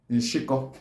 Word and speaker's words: Nshiko: Crab is called Nshiko. Nshiko. Nshiko is spelled as N-Sh-A-K-O.